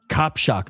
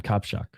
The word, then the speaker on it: Kacprzak: Kacprzak. That's how you say his name. Kacprzak.